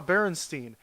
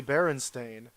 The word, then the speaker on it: Berenstain: So we go out and we get the book, and I read through it, and I'm like, haha, Berenstein.